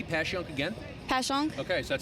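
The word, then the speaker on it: Passyunk: used to call it passing young she was like why are you calling it that it's pasan I was like well it's spelled passan and a lot of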